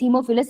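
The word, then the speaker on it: Haemophilus: हेमो नहीं होता, ए silent होता है, this is हीमोफिलस influenza, right.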